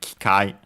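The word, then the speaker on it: 機械: Uh notice again that uh E of K barely heard if at all because it's between a voice constant. Kikai.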